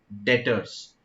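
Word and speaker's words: debtors: और हम कहते हैं ट्रैक्टर्स इसकी स्पेलिंग डीबीटी वायरस है लेकिन बीच साइलेंट है तो ट्रैक बैलेस कहते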